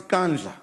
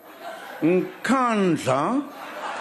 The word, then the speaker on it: Nkandla: You know, some people who could not pronounce Kandla, they've now learned Nkandla, Nkandla, Nkandla.